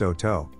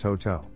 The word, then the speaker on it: Hotot: the breed was developed hot it is correctly pronounced oh toe but in the united states you may hear it pronounced hote the blonde to haunted rabbit is recognized by